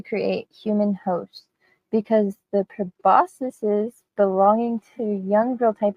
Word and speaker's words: proboscis: people of science say it as proboscis. You were right. You were totally right. I'm sorry. I doubted that. You were right. That's how most I said scientific people say it, so I'm gonna say it like that.